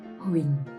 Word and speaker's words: Huỳnh: This final consonant NH is just like the NG final consonant in English. So wing. And adding the consonant H. Wing. Now the falling tone. Do you remember how to say the falling tone? Right? Like you agree with someone. So Huỳnh.